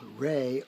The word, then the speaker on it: re: So you've got do, D-O, re, R-E, not R-A-Y, which is the way it's spelled in the do-re-mi song from Sound of Music, but whatever.